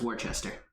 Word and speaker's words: Worcester: But the actual city that it's named after is pronounced Worcester.